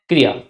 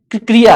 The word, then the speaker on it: क्रिया: एक बात मैं आपको समझा दूं कि क्रिया जो वर्ड है यह क्रिया नहीं है। क्रिया है। अब देखिए कैसे क्योंकि इसमें क ऋ या इस तरह से बोलते हैं इसको।